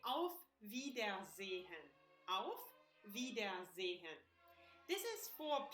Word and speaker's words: auf Wiedersehen: First of all, you can say auf Wiedersehen.